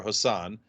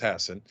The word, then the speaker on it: Hassan: Hassan versus price I used to call her Hassan is pronounced Hassan um so uh versus Don Bolduc Don Bolduc